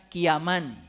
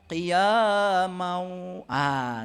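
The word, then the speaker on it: قياما: Nah, ini saya bacanya qiyaman. Harusnya kan qiyamau. Gitu. Karena ya itu ada kasroh 2 ketemu wow itu idgham biguna.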